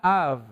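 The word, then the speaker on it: אב: hebrea para padre es la palabra av es a y una B que se pronuncia como V verdad Pero cuando el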